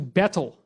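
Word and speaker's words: baetyl: renamed from omphalos to betel. And it's a little funny because the AE is kind of pronounced E, so it's more like beetle.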